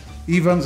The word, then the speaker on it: Ifans: No, Evans is how you say Evans in the Welsh language.